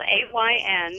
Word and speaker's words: Ayn: The writer you're talking about is Ayn Rand. It's spelled A-Y-N, and it's pronounced Ayn, and the last name is Rand, R-A-N-D.